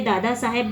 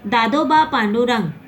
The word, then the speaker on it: दादोबा पांडुरंग: मैंने इसके पहले दादा साहेब बोला, वो गलत हो गया प्रोनाउंसिएशन। एक्चुअली में दादोबा पांडुरंग तड़खड़क कर द्वारा जो